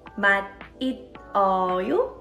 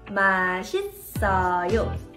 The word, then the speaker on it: 맛있어요: Did you say it like 맛있어요? It's actually pronounced as 맛있어요. And the rule here is, if there is 받침 like this and the next door has silent syllable 이응, you would actually carry over the 받침 sound to next door.